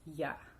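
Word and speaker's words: я: the very important one ya ya means i or me and we pronounce it as ya like you probably heard german say that yeah yeah and that's the same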